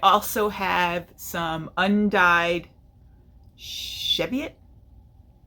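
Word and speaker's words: Cheviot: have have some undyed cheviet I think is how it's pronounced c h e v IO T because I read somewhere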